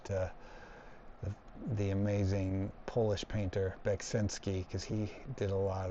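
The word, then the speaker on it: Beksiński: due to the influence of Beksinski, or Beksinski, I think is how it's pronounced. I always say it the wrong way. I don't know. It's spelled very confusingly, but he's an amazing artist.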